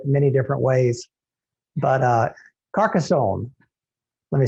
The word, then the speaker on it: Carcassonne: famous for their white wine in this region carcassonne is that how you say it yeah okay carcassonne i had some videos from previous years i said it many different ways but uh carcassonne let me say it again in carcassonne is